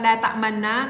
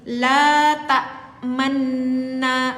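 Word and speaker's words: لَا تَأْمَنَّا: Ini ada di dalam ilmu tajwid, namanya ishmam. Kalau kita bacanya bukan seperti ini. La ta'manna. Coba diperlihatkan bibir teteh, Ini kalau baca seperti ini salah, ya. Kakak Susi kalau baca seperti ini salah. La ta'manna salah. Tetapi harus kita ishmamkan agak rapat.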